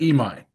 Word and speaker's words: Imai: How do How do you pronounce it again? Tatsuya. Tatsuya. Emi.